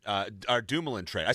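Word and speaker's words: Dumoulin: other guys um uh the the suitor uh Demolan uh Dumulan trait. I said Demolan because that's how uh that's how Gary Bman pronounced it uh on the podium. He mispronounced uh Brian Dumlan's name.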